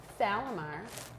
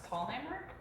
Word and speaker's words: Tallheimer: So, Salamar, is that how you say your name? Tell me how you say it. Well, it's Tallheimer.